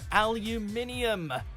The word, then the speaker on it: aluminium: aluminum siding and roofing this is one of the rare cases where a change in pronunciation has also caused a change in the spelling they really do skip out on the second eye in North America but actually this is